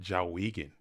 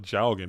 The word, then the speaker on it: Jowgen: at locals with, and he would always call it Jawigan. It was always Jawigan. And for some reason, that pronunciation just stuck in my brain as Jawigan. Instead of Jowgen, it's always Jawigan.